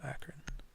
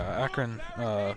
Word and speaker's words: Akron: And it goes in favor of Akron. And where are we going? Statuary. Statue. Sweet. Akron? Akron? I don't know. It's pronounced Acorn.